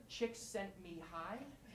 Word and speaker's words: Csikszentmihalyi: So this is Mihaly Csikszentmihalyi, pronounced Csikszentmihalyi, and this is Howard Gardner.